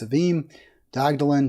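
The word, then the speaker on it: Sevim Dağdelen: Really powerful stuff from Savim Dagdalin. I believe it's pronounced Savim. She is, I said Savim, but it's Savim Dagdalin.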